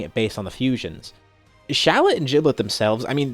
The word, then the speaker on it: Shallot: Okay, so this one obviously, well, it's weird because Shallot with an E, Shallot, I guess it's pronounced the same way.